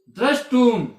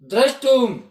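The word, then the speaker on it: द्रष्टुम्: तो सकार होता है, सूत्र के माध्यम से से का श हो जाएगा, मूर्धन्य स। वो जो त है इसका ट हो जाएगा उच्चारण के स्थान पर, क्योंकि शब्द का एक ही उच्चारण हो जाता है। तो हमारा शब्द बन गया द्रष्टुम।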